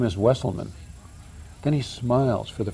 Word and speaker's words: Wesselman: you're right either that's they said you know this is a vessel man vessel now my wife